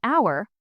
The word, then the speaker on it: hour: Notice we say an hour because the h is silent.